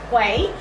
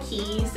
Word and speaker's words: Quay: A lot of people may pronounce it as Quay, but it just says underneath that pronunciation is Key, and pronunciation is Key, okay?